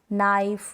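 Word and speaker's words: knife: क्या है रूल, के और एन साथ में होते हैं तो हम के को नहीं प्रोनाउंस करते। स्पेलिंग्स जान ले, एग्जांपल्स जान ले, जैसे कि no, knock, नाइफ, night, knowledge.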